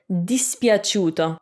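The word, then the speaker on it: dispiaciuto: you get ciu okay so instead of cool like in cucina if you want a soft if you want a soft c with a u like chew you can see that in the word dispiaceuto like displeased dispiaceuto again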